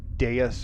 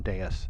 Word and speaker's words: dais: 12 kind of looks like this half circle dais or platform or something.